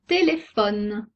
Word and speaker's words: téléphone: Une lettre muette très fréquente est le E final. Le E en fin de mot. Exemple, un téléphone, une amie. On n'entend pas la lettre E.